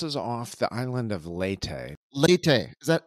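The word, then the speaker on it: Leyte: e y t and I'm probably butchering the pronunciation but it does seem to be how it's pronounced by uh people on this side of the world the Battle of leate largest naval battle in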